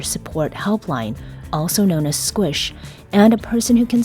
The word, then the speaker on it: SQSH: more here's Maya norl do you pronounce it squish cuz I always say squish when I see it yeah it is Squish and squish I think